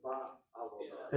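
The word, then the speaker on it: בעבודה: For me, it makes sense to say bet. But it's not. It's ba. Okay. kamats Okay, it is a patach. Yeah. The word avoda is spelled with an ayin with a chataf patach under it. So, it's not a question of media kamats. So, ba avoda. It's ba avoda.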